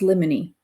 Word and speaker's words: limine: But yeah, it's pronounced limine, motions in limine.